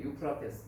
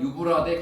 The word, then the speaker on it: 유프라테스: 유프라테스, 이게 유프라테스. 성경에는 유프라테스 강을 가리켜서 유브라데 강이라고 이렇게 발음을 조금 이제 옛날식으로 표현했죠.